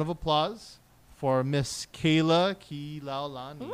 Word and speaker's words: Kilaulani: applause for Miss Kayla Kilaulani. Woo! Oh, you said it right. Some people don't say it right. You gotta say it slow. I know. You say it how it's spelled.